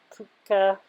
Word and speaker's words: Puck: It's pronounced in different ways in different languages, like Puck or Puka, Puka.